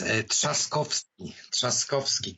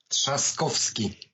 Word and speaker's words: Trzaskowski: competitor than about Duda, but I simply cannot pronounce his name. I don't get it. It's so nice. Trzaskowski. Can you repeat that? Say it again. Trzaskowski.